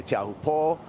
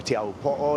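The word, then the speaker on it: Teahupoʻo: People say Teahupo'o or Teahupo'o. It's just really, if you respect kind of the okina, or that mark that's in between the two O's.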